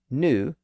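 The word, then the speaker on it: nous: it a new way with the letter combination OU so in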